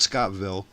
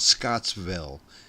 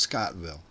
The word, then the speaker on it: Scottville: Called Scottville. And if you ever hear anybody who's not from there pronounce it they always say they add a s to it. They call it Scottsville.